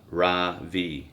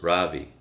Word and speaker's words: Ravi: My name is not Ravi, he says. It's pronounced Ravi.